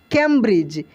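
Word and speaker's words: Cambridge: आई दी जी कैंब्रिज देखिए ये नियम का बिल्कुल फॉलो नहीं करता है इसका अपना स्पेलिंग कैंब्रिज लास्ट में ही लगा है या बीच में भी आप देख सकते हैं दी का कोई भी कुछ भी नहीं हम लोग पढ़े थे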